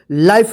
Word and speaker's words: life: क्या पढ़ेंगे, लाइफ, इसको लीफे मत पढ़िएगा या विफे मत पढ़िएगा, वाइफ, लाइफ होगा, ठीक है ना। क्योंकि ई के पहले जो वोवेल आ रहा है आई आ रहा है तो आई का आई उच्चारण होगा और ई का कोई उच्चारण नहीं होगा।